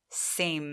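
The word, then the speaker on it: same: 붙을 때가 굉장히 많잖아요 맨 끝에 오는 이의 낸 소리를 내지 않는 이에요 그래서 묵음 처리 된다고 봐 주세요 그래서 이렇게 생겼을 때 이 a 를 a 라고 읽습니다 한번 가볼까요 3 입는 세임 4 여러분 제가 2세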